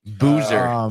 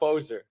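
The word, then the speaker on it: Boeser: Boer I forgot how you say his name Boozer Boozer no it's Brock carlosz Brock Bozer Brock Bozer Boer um Demco give me the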